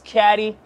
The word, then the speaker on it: CAD: fresh prince of radio my name is c-a-d where I pronounce caddy welcome to POV you